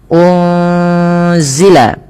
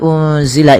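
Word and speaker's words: أُنزِلَ: Pada lafal unzila ini ada nun sukun bertemu dengan huruf zai. Apabila ada nun sukun bertemu dengan huruf zai ini, cara membacanya adalah nunnya disamarkan kepada huruf zai ya. Unzila, unzila sembari ditahan dengan dua harakat bunyinya.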